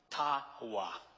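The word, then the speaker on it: taba: T-A-B-A, but the B is pronounced like a W. Tawa.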